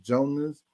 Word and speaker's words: Jonas: If you get what I'm saying, it's Jonas, like Jonas, but it's like the J. I'm trying to think like the J is silent, so it's Jonas because you don't really hit a J in Jonas, so it's like Jonas Velatunas.